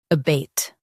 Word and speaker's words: abate: Both US and UK have the same pronunciation of this word, ABATE. Now read the syllables shown on the screen naturally. Bait, ABATE. Stress bait and soften the sound.